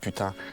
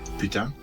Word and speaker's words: putain: The best part of the voice acting was trying to make everybody say merde and putain.